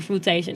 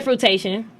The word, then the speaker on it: fruition: People say fruitation. I don't know for what. Oh, okay. So they were saying it wrong.